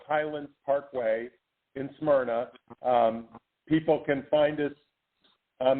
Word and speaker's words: Smyrna: located you have the Atlanta fibroid Center in Samara that pronounced it right the Samara location Georgia we're at um we're in uh West Atlanta in in Smyrna um it's uh about 15 20 minutes from